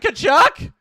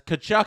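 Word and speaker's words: Tkachuk: in the chat says kachuck is pronounced kachuck not kachuck thank you thank you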